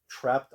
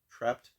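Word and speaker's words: Trapt: add to the collection I believe that's how you pronounce it t r a PT trapped and I also did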